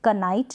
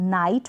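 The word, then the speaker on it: knight: जैसे कनाइट नहीं बोलेंगे, इसको हम नाइट प्रोनाउंस करेंगे।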